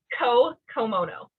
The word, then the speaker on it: Co Komono: you look at the name yeah but it's ko komono kokomo okay yeah it's gonna take me some